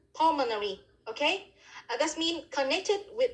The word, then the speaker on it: pulmonary: pulmonary is the adjective the stress is full on the syllab first syllable pulmonary okay that's mean connected